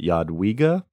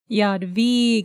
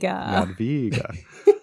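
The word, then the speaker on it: Jadwiga: W in Yad VGA is pronounced like a v in void which makes sense um so the the official term for people of earson are Yad via Yad VGA Yad VGA uh and yeah like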